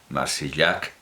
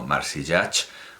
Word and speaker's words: Marsillach: De Adolfo, en este caso, sin ningún problema y sin ninguna duda, Marsillac, así pronunciado, no Marsillac, porque él sí era de Barcelona.